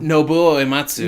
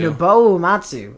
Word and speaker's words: Nobuo Uematsu: Nobuo Uematsu. Nobuo Uematsu is on it. Nobuo Uematsu. Don't give me that look. Nobuo Uematsu.